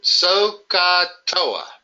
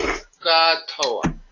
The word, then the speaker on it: SOHCAHTOA: I pronounce it Sohcahtoa, like you're going to soak your big toes. Sohcahtoa.